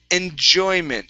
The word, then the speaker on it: enjoyment: last one here is enjoyment so we have that J here again so instead of enjoy it's enjy enjoyment enjoyment okay one more time instead of shy it's enjoyment there you go one last